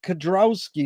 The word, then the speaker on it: Kedrowski: Kedrowski. Is that how you pronounce it?